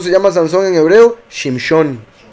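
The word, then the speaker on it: שמשון: Shimshon. Shimshon. O sea, se escribe igual, pero se pronuncia en la Shin como Shin en vez de como Sin. Sazón, Shimshon.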